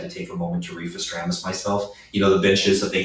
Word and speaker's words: Refestramus: Refestramus.